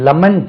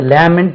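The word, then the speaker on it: lament: எப்படியோ நினைச்சோம் அப்படின்னு சொல்றதுக்கு லெமன்ட் அது எல் ஏ எம் இன் டி இது பார்த்தா லேமன்ட் மாதிரி இருக்கு லெமன்ட் புலம்பி தள்ளுவது டோன்ட் லெமன்ட் வருத்தப்படாதேப்பா ஏதாவது தவறு செஞ்சுட்டா நம்ம வருத்தப்படுவோம் இல்லையா லெமன்ட் அது லேமெண்ட் சொல்லக்கூடாது லெமன்ட் லெமன்ட் லெமன்ட் எல் ஏ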